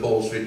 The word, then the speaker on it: Hall Street: And don't anybody tell me that Hall Street is pronounced in any other way.